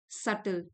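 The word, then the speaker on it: subtle: सुधारना और बेहतर बनाना सटल बी साइलेंट है स्मॉल बट इंपॉर्टेंट मोमेंटम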